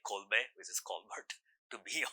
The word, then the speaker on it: Colbert: so they named somehow made an acronym which spelled like Colbear which is Colbert to be on TV but